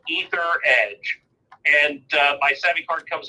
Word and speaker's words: Etheredge: is as rich and it's spelled e th ER e mg e sub ether edge and my seven card